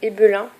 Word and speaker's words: Ebelin: Sinon j'avais acheté ce pinceau là, c'est pas du tout de la marque Essence, c'est de la marque Ebelin, si on le prononce à l'allemande.